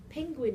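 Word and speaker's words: Pynguin: to say was penguin penguin is a little project it's spelt p y n g u i n it's python based and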